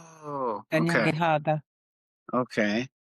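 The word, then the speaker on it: Kanyen'kehà:ka: The K's are pronounced G's. Oh, okay. Kanyakahaga. Okay. Kanyakahaga.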